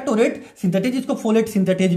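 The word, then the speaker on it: pteroate: Synthetase भी लिखा हुआ, टोरेट सिंथेटेज पी साइलेंट रहता है, टोरेट सिंथेटेज, इसको फोलेट सिंथेटेज भी हम लोग बोलते हैं, इसको हमने जोड़ दिया।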